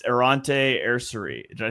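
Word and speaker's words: Aireontae: It's Arante Ersari. Did I say that right, Dibes? Ariante. Ariante. I couldn't find a pronunciation in every interview.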